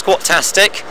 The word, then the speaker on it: Squattastic: That's squatastic, double T.